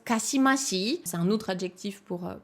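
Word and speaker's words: 姦しい: Candy de ulusai c'est un Candy qui se qui se prononce kassimassi c'est un autre adjectif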